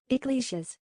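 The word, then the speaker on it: Yglesias: Iglesias. Iglesias. Okay, so the guy's name is Matt Iglesias.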